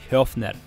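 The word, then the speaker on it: Höfner: The Hofner company is no joke, and I was right, it is a soft O, it's pronounced Hofner.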